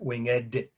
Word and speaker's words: winged: Nike or comma, winged victory, or some call it winged. They pronounce the ed. It's obviously the word winged with the ed.